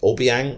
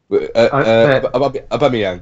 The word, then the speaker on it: Aubameyang: Player that potentially is going to get dropped is it Obiang? I can't pronounce his name. Luke, go for it because you're quite good at it. Aubameyang.